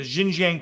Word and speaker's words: Xinjiang: was discovered in i i gotta try to pronounce it correctly it should be jin jinjiang the xinjiang province of china which is